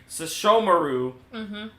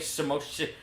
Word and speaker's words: Sesshomaru: We're watching fucking Inuyasha and his brother Sesshomaru. Okay. Yep. I could not say his name for a while. I kept saying Samoshishu.